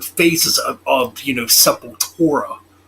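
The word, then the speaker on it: Sepultura: of of you know supple torah as it's pronounced in brazil i guess but yeah so yeah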